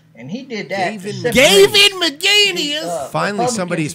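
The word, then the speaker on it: McInnes: Gavin McGinnis! Finally, somebody's pronouncing Gavin's name correctly.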